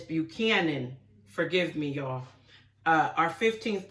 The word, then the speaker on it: Buchanan: James Buckingham, I mispronounced his name. It's not Buckingham. It's Buchanan.